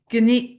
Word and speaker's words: Skaneateles: It's spelled S Skaneateles, New York. It's Skaneateles.